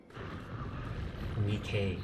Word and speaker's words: NIKKE: Nikkei, that's how it's pronounced.